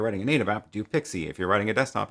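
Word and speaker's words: PKCE: i'm pretty sure was created so that it could be pronounced pixie um but anyway the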